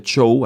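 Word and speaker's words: Zhou: viene la dinastía show Usted lo ve escrito show usualmente se les pronuncia show así lo escuchado yo en los especialistas y entonces vamos fíjense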